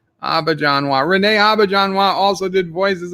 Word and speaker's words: Auberjonois: I found one where he pronounced it himself. Auberjonois.